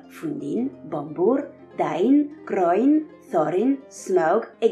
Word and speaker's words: Smaug: C'est pourquoi il semble correct de dire Fundin, Bombur, Dain, Groin, Thorin, Smaug et Gandalf.